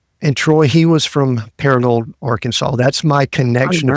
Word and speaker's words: Paragould: you're from a little town in Arkansas called Paragould. Did I pronounce that right? Paragould?